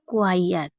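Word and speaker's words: choir: देती हूं इसको पढ़ने का इसको पढ़ते हैं क्वायर क्वायर यानी कि चर्च में गाने वाले को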